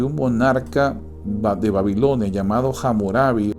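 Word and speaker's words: Hammurabi: Y saben, hay un código en particular, el código de un monarca de Babilonia llamado Hamurabi. Hamurapia, hay diferentes pronunciaciones de su nombre, que eh es uno de los más famosos que existe.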